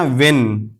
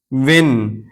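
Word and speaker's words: when: बल्कि व्हाट इसी तरह व्हेन व्हेन एच से पहले डब्ल्यू और एच के बाद इ है तो यह एच साइलेंट है।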